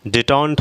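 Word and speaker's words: détente: इसके बाद देखिए क्या है यहाँ पर, ठीक, डिटॉन्ट हम इसे बोलेंगे, डिटॉन्ट।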